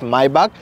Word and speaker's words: Maybach: जी हाँ, क्योंकि एक जर्मन ब्रांड है, इसका सही प्रोनाउंसिएशन इज मायबाक, और इसे GLS पे हमने ऑलरेडी आपके लिए वीडियो शेयर किया था।